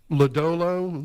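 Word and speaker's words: Lodolo: Um, is that Lodalo? Is that Lollo? Lollo. Okay. Wasn't sure. I hadn't heard that name pronounced.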